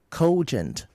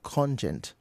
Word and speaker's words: cogent: Then cogent not conjun authority as well.